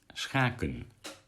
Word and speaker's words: schaken: Only the word chess is completely wrong. Chess is schaken. So if you say you play chess, you say jij schaakt. SCH. That's very difficult to pronounce.